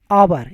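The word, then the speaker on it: hour: pronounce करते हैं दी आवर यहां पर चच साइलेंट है गाइस जब भी एच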